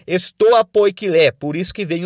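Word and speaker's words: στοὰ ποικίλη: e ele tem esse nome porque os filósofos se reuniam no chamado Pórtico Pintado, na entrada de Atenas, que em grego é pronunciado estoa poikilé, por isso que vem o nome estoicismo, né?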